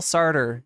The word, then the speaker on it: Sartre: Is that how you pronounce this guy's name? Sarter, yes. It's Sarter. My favorite existentialist philosopher. Sarter. Jean-Paul Sartre, yes.